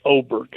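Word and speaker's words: Åberg: It's spelled Aberg, but you pronounce it Oberg.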